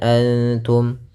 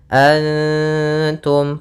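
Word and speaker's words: أنتم: Cara membacanya adalah samarkan nunnya kepada huruf ta, bukan dengan dengung, bukan dengan ng. Nah, akan tetapi dia samar ke ta langsung, anta.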